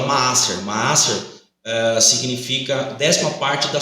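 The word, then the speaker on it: מעשר: No hebraico tem a pronúncia chamada Maaser.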